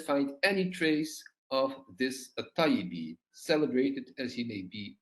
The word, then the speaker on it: al-Ṭayyibī: self-obvious, and second, that his family name is to be pronounced al-Ṭayyibī and not al-Ṭayyibī or al-Tibī.